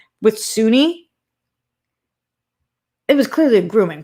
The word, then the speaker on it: Soon-Yi: Glenn says no big deal, but it's pronounced Soon-Yi. No, I don't think so. It's spelled Soon-Yi. I think it's pronounced Suni. Glenn, you can let me know if I'm wrong, but in the doc